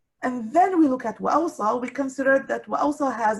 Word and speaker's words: وَأَوْصَى: Okay, it's read with an extra letter, pronounced وَأَوْصَى, and also this extra letter is also scribed in some of the masahif.